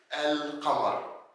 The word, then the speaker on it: القمر: For example, we say القمرية, which is القمر. So we say L and we write L.